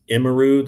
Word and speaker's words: Emiru: Imaru, that's let me see how I hang on. I got the spelling here. Give me 1 sec. It is, I believe it's Emiru. I think that's how you say it. Here, let me just, I'll do this. Let me grab this. And maybe it was, oh, wait, give me a second, guys. Yeah, it's Emiru. So it looks like somebody's bodyguard caught this.